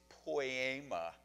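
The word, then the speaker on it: ποίημα: his masterpiece masterpiece because if you pronounce the greek word it's poema which sounds like poem doesn't it god you know he's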